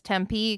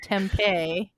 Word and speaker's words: Tempe: uh pretty interesting it's nice to hear them pronounce Tempe correctly though uh that's a nice surprise to not hear it pronounced tempeh um but Nathan have you seen this movie